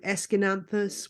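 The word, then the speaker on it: Aeschynanthus: particular thing for um a trailing plant called esin anthus which is impossible to say when you see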